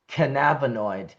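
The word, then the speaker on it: cannabinoid: So I do try to consciously say canabonoid like cannabis uh the way Dr. David Allen has uh taught me.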